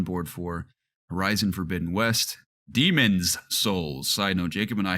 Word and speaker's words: Demon's Souls: I'm more on board for horizon forbidden West demon's souls side no Jacob and I have been laughing